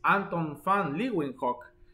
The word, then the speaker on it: Anton van Leeuwenhoek: el microscopio, el holandés Anton van Leeuwenhoek, ¿ok? O Leeuwenhoek, algo así se escribe, así como. Pero Leeuwenhoek, Anton van, ¿ok? La V se pronuncia como F en el holandés, en el alemán, cosa gramatical de ellos.